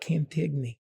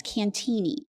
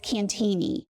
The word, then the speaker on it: Cantigny: Well, first of all, the correct pronunciation is Cantigny. I was saying it in Italian. Well, everybody says Cantigny and Cantig and Cantigny, including myself, until I learned it's French. So, it's Cantigny.